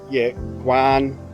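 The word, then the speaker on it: quán: There's a lot of Quan, probably pronounced that terribly wrong, KWAHN, so your smaller, like your warongs in Indonesia, so your smaller type local stores.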